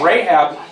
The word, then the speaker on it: Rahab: So they went and hid in a prostitute's house, a prostitute by the name of Rahab.